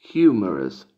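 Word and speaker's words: humerus: un virus en latín y en inglés médico se pronuncia hummers jmr psh jmr psh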